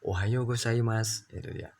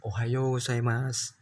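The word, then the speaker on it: おはようございます: desa biasanya tidak dilaporkan contoh Ohayo gozaimasu su itu tulisannya dilaporkan Ohayo gozaimasu Oke qd suka dilafalkan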